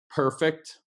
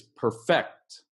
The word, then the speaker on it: perfect: is a verb and the different pronunciations of each so we have perfect that's the adjective how that's perfect that's perfect thank you right perfect but the verb is perfect perfect let's practice that